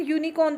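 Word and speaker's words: unicorn: अब एन यूनिकॉर्न तो होगा नहीं, क्योंकि यूनी, ये जो यू है ना, ये यू का साउंड क्या निकल रहा है, य से।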